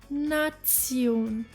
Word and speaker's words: Nation: least we have the combination of te e o n which sounds like Sion as in the word nazion meaning Nation now I understand that